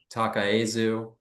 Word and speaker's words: Takaezu: Glenn, I always get this name wrong. Toshiko Takaezu, Worlds Within for the Osamu Noguchi Museum, and Nike Form Follows Motion for the Vitra Design Museum.